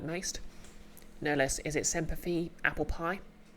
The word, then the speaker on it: Semper Fi: No, let's Semper Fi rhymes with apple pie.